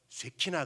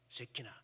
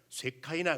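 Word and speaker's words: שכינה: 임재, 그 임재한다, 머무른다는 말을 히브리어로 쇠키나 그래요. 쇠키나. 그래서 요거를 쇠키나라고 하는 히브리어를 영어식 발음으로 하게 되면 쇠카이나 그래요.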